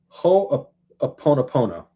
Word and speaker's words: Ho'oponopono: And he teaches them this Hawaiian practice of, I'm going to butcher the pronunciation of it, but it's Honoponopo, or Ho'oponopono.